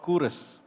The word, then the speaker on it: Kuros: It's called Kuros. It's spelled Quros, but it's pronounced Kuros.